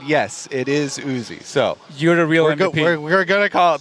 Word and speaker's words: Uzi: because there has been discussion on how to pronounce Uzi yes we did get confirmation from player management